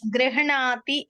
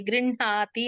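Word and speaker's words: गृह्णाति: గృహణాతి అని ఉన్నది అనుకోండి, గృహ్ణాతి అనాలా? గృహ్ణాతి. గృహ్ణాతి. కరెక్ట్.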